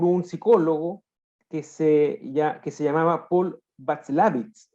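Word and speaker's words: Watzlawick: Y fueron propuestos por un psicólogo que se llamaba Paul Václavitz, ¿ya? Me parece que así se pronuncia el apellido, que era un psicólogo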